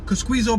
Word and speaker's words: Kosciuszko: Cosquizo Park.